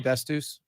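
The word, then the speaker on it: Dastous: Is that how I say his name, Dastus? Yeah.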